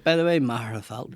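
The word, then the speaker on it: Magherafelt: Marafel, right? Yeah. Yeah. Macfelt is way macarel. I say Marafel, but then I always say macarfelt for anybody that's not from there, though.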